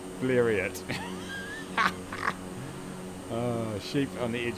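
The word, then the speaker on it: Blériot: I pronounce Blero like chariot. Bleriot.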